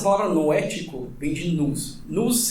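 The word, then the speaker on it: nous: Nus é uma palavra grega, né? Mas a transliteração é geralmente é n o u s. No né? A gente pronuncia.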